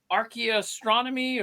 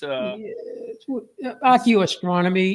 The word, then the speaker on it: archaeoastronomy: Archaeastronomy or what was it? That's a cool. Did I even pronounce that? What is it exactly? It's archaeoastronomy. Archaeoastronomy. Yeah, I love that.